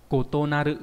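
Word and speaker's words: 異なる: Cái đấy nhá, nó kotonari, cái này đã đọc là kotonaru, kotonarimasu.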